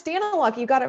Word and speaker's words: Daniluk: Am I saying your name wrong? How do you say that? No, it's Daniluk.